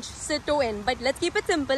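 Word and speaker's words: Citroën: That's pretty much how they pronounce it in French, Citroen.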